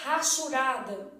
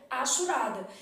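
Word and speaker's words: hachurada: língua não é pronunciado o povo tem Marinha de falar assim área rasurada hum não existe isso não meu filho área achurada então no português o h não é pronunciado Ô Flávia mas a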